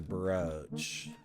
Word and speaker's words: brooch: There are two pronunciations for this word which are equally acceptable though might have different degrees of acceptability. Regionally. One rhymes with coach, roach, poach. And one rhymes with pooch, smooch, hooch.